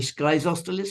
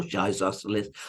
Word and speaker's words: Schizostylis: It used to be Schizostylis or Schizostylis or Schizostylus, depending on your pronunciation.